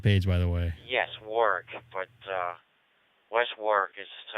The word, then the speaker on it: Warwick: Is that how you pronounce that? I didn't cheat and look at his QRZ page, by the way. Yes, Warwick, but West Warwick is a separate town.